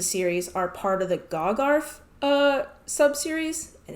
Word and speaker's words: Gagharv: So the next games in the series are part of the GOGARF sub-series, and if you want to know how that's spelled, it's GAGHARV, GOGARF, whatever that means.